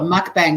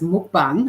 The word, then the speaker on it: mukbang: that are famous for some people call it mukbang but it's actually pronounced m bung and they they basically um get right up